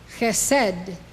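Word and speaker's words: חסד: This is how they are pronounced. These 9 Sphirot emanate from Keter. Chokhmah, wisdom. Binah, understanding. Chesed, love.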